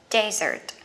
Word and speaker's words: desert: Vậy các bạn nhớ nha, sa mạc một chữ S sẽ đọc là desert. Còn món tráng miệng của mình hai chữ S, cái này sẽ đọc là dessert.